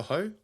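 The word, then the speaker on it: Høj: Celtic look, there's fe agreed with Bodto glimp for striker Casper Ho or is it Hoy? I heard I heard it's Hoy. So sounds like boy or something.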